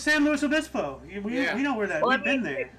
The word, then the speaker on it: San Luis Obispo: I'm not good at pronouncing right now. It's San Luis Obispo.